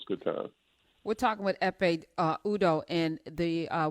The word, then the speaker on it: Ekpe: u d o h the k is silent f a um were